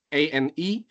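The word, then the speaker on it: A&E: Istilahnya sini ANI, ditulisnya A dan ANI, dibacanya ANI.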